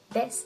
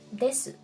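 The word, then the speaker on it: です: Esta es la razón por la que el verbo ser, des, se pronuncia así, des, y no desu.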